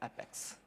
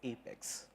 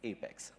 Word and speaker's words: APEX: development platform you know most of us here pronounce apex as effects but that's not epics it's apex right well you could those of you who